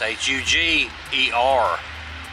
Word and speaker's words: Huger: for killing their sister now some will say Eliza huger those from of the coast will probably pronounce it Eliza huger nonetheless is hu Zhi er I find this quite